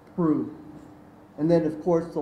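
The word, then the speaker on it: Proulx: Prue, spelled P-R-O-U-L-X, but pronounced Prue.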